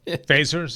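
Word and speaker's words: Feser: blog is uh dense phasers is yes oh yeah yeah it's f-e-s-e-r but it's pronounced phaser yeah and not for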